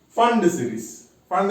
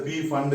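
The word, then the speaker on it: Pfund: Their P is silent. Don't pronounce it as a P Fund series. Okay? Pronounce it as a Fund series.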